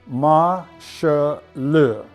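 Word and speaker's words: 马歇尔: We do know that the Chinese characters are pronounced Ma She Le, which is the Chinese transliteration for Marshall.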